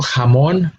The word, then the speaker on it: jamón: And a good example would be, for example, jamón. Jamón is spelled with a J, and it produces a similar sound to its English equivalent, which is spelled with an H, no?